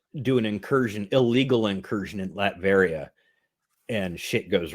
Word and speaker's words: Latveria: We were watching something the other day that had Latverian goats. I don't remember that. It was Ernest Saves Christmas. Latvian goats. I'm like, it's pronounced Latveria. Latveria.